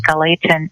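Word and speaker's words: Gallatin: l a t n I actually called the galon school to see how they pronounce that so it is galon microplastics initiative so the gadon Watershed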